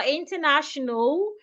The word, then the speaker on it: international: So we don't say international, international. The letter A after the N, after the second N, is silent.